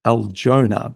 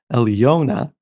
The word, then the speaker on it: Aljona: Her name is, well, it looks like Aljona, but it's pronounced Aljona, she tells me.